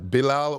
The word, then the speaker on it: Bilal: I'm pronouncing it right. Bilal.